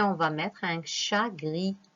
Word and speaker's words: gris: Donc, on a trouvé le S et on va mettre un chat gris. Gris s'écrit avec un S à la fin.